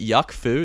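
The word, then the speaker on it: Yuk Foo: And then Wolf Alice, I have Formidable Cool written, but I'm changing it to, is it Yuck Foo? Is that how you pronounce it?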